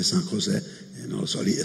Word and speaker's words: San José: Una volta ero a una trasmissione Rai, mi hanno corretto che non si dice San Ioso, ma si dice San José, non lo so, lì